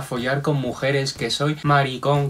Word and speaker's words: maricón: con mujeres, que soy maricón con acento en la O, que me gustan los hombres?